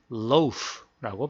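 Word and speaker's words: loaves: 한 덩어리라고 얘기를 할 때이 덩어리는 loas lows라고 발음을 해요 그래서 f로 끝나니까 ves로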